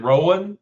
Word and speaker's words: Rowan: And is it Rowan? Is that how you pronounce it?